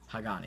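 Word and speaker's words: Hagane: Another thing is that all these reels have Hagani. Only the Stratic FK has it right now, in Twin Power and Stella. So those are the only reels that currently have Hygen, or Hagani, that's how you say it.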